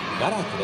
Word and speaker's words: 我楽: 我楽しむと書いてガラークと呼びます。